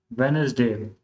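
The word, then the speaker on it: Wednesday: इट वाज़ अ वेडनेसडे। तो वेडनेसडे के अंदर डी जो है ये साइलेंट लेटर है।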